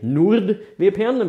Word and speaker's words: NordVPN: And I say NordVPN because that's how you pronounce it.